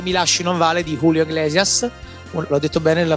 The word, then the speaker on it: Julio Iglesias: è appunto Se mi lasci non vale di Julio Iglesias. L'ho detto bene la pronuncia?